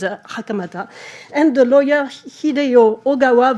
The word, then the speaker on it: 袴田: Everybody says Hakamada, but the real pronunciation is Hakamata.